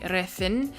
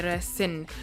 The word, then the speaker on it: recen: Now in Spain they say the C as th, so they would say recen, but because this is Colombian and a Colombian dialect, they'll say recin, so they pronounce the C as a S sound, whereas in Spain they pronounce it as more of a TH th sound.